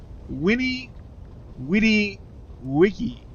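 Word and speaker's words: veni, vidi, vici: uni there we go actually is pronounced Winnie witty Wiki which definitely doesn't have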